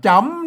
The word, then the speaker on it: จ๋ำ: ก นะ ครับ อ่า จ๋ำ นะ ครับ จ๋ำ จ๋ำ ตัว นี้ มัน อ่าน ว่า จำ นะ ครับ อ่า ภาษา